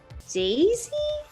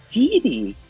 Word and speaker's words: Didi: Yes, I know you have a beautiful little dog, and I want to say her name is Daisy? Dee Dee.